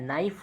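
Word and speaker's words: knife: किसी भी वर्ड में एन से पहले के है तो के को नहीं पढ़ना है, डायरेक्ट इसके आगे वाले वर्ड से इसको प्रोनाउंसिएट करना है। जैसे नॉलेज हो गया तो के को नहीं पढ़ेंगे वहाँ पे, ठीक है। नी हो गया, ठीक है, नाइफ हो गया, के यहाँ पे साइलेंट है।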